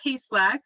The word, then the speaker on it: Kaselak: So yes, I am Kaselak, is how you pronounce that, co-founder and COO of Kare.